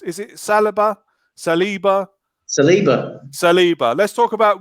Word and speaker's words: Saliba: uh now how was it how is it pronounced is it salabha saliba saliba saliba let's talk about william saleeba um looks pretty good graham didn't he well